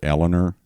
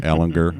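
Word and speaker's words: Ehlinger: Okay, and now I don't mean to correct you, but we pronounce it Eleanor here, not Ellinger. We don't use the G.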